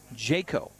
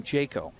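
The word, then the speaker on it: Jacquot: the count to Cowan so it is jet Jayco so it's spelled j-a-c-q-u-o-t which French would be Jacob but no they're saying Jayco so there you go pronunciation on our picture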